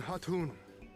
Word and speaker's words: Hatun: Tamarun Hatun. Hatun, that's it. I am returned. The K is silent.